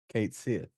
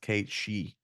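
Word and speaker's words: Cait Sith: I always called him Kate Sith because that's what it looks like apparently that's not how you pronounce that apparently the name is Scottish and it's supposed to be pronounced Kate she and some kind of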